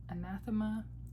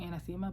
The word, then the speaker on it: anathema: Anathema. I had to like look up this word. It means something that is like widely despised or hated. People say it wrong. Anathemma, but it's anathema.